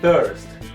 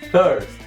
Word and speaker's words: thirst: E a pronúncia dessa palavra aqui é thirst. Lembre-se da pronúncia do TH no começo, thirst.